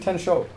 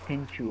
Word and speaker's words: Tenchu: Tenchu, man. Why are you saying Tencho?